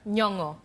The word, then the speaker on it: Nyong'o: Was I pronouncing it right? Nyong'o.